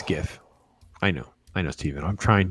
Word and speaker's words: GIF: Yeah, it's a hard G. It's GIF.